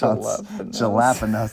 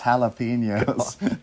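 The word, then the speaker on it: jalapeño: He says jalapenos, and he's like, it's not pronounced jalapenos, it's jalapenos. Jalapenos.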